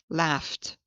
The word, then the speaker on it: laughed: Same thing, laughed, laughed.